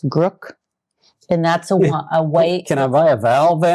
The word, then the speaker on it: Grk: how to pronounce but it's spelled G R K. I think it's Grrook.